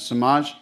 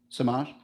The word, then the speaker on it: Samaj: Samaj conference. Conference. Thank you so much. And how do you say your first name? Samaj. Sama. Sama. Like the J is silent.